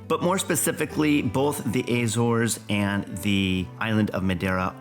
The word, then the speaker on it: Azores: And then thirdly, I would say the um Azor pronounced Azores in Portuguese is also becoming uh a really really popular hot spot for tourists uh from North America.